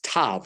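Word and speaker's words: תו: Just going back, that word placed on top of them, that mark is vihit vit tav. A tav sounds like the word tough.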